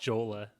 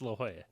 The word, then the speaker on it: La Jolla: to think the one that immediately comes to mind is La Jolla because I used to pronounce that Yeah. like Jola, like Yeah, it's on La Jolla, yeah. it's La Jolla.